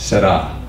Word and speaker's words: Que Sera Sera: Italians use a very soft R or a rolled R. We would say Que Sera Sera. An Italian would say, no, it's Sera.